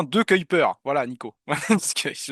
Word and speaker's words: De Cuyper: Et on dit bien De Cuyper.